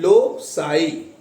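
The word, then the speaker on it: loci: अब इसको हमें प्लूरल में करना है कि कई ठिकाने, तो हमें करना है एल ओ सी आई, और इसका प्रोनाउंसिएशन होता है लो साई, लो साई।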